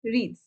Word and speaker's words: wreaths: Next one इज wreaths. wreaths से student होता है, सी pronounce it एज wreath, डब्ल्यू is silent here.